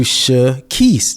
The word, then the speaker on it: Shekeese: And so it's pronounced Keese, and then there's Reese's Pieces, and it's Reese. I was like, I just do Shekeese.